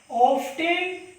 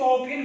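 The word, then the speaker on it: often: प्रायः कहते थे कि, कुछ लोग इसको ऑफेन बोलते हैं, तो एक्चुअली ये प्रोनाउंसमेंट जो है अमेरिकन इंग्लिश में होता है, ठीक है, बट हम ब्रिटिश पढ़ रहे हैं इसलिए इसको रीटेली करते हैं।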